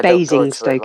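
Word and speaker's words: Basingstoke: they comic UK I bing St is how it's said Bing big biggest one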